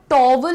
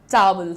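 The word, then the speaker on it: towel: इन द टॉवल अच्छा देखो टॉवल नहीं होता है तुआल नहीं होता है टॉवल होता है क्या बोला मैंने टॉवल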